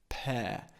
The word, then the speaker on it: pear: open at the end pear okay we don't pronounce the r at the end it's an open Sound pair also shaped again